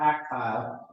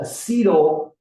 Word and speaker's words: acetyl-CoA: didn't spell it right, it's not actyl, but it's called acetyl-CoA. Acetyl-CoA. An acetyl group has 2 carbons. We lose a carbon as we do this, and it becomes carbon dioxide. The acetyl-CoA then goes into the